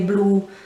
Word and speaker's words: blu: at the end really whereas we would say blue they say blue the u has a bit of a deeper sound at the end i suppose he sort of elongated a little bit um which we don't